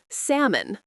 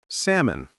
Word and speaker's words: salmon: Salmon. Salmon. Good. Notice the L is silent.